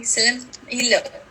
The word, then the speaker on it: Celimpilo: Celimpilo.